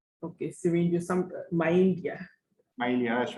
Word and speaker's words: syringomyelia: It's syringomyelia. Okay, syringomyelia.